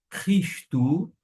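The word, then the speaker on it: Χριστοῦ: Vamos agora fazer a pronúncia, palavra por palavra, do versículo de número 1. Paulus, doulos, Iesu, Christou, kletóis, apóstolos, aforismenos, eis, evangelion, teu.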